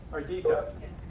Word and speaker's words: Ardita: Ardita. 3 syllables, right? Ardita.